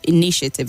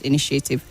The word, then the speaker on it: initiative: initiative not initiative the the stress is only on the second syllable initiative and not initiative through and not true